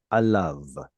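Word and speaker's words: עליו: And again, we don't pronounce that anymore, even though historically we probably did. Historically, it would have been something more like alehu. Then the hey went missing, and then the au becomes av.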